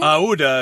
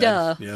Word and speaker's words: Aouda: Aouda is what I said. Aouda.